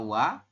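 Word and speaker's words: ㅘ: E ini y ini O dengan a dibaca WA kemudian o dengan e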